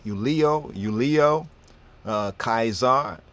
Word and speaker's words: Caesar: the C sound right the C Sound would actually be pronounced as a k sound so the C Sound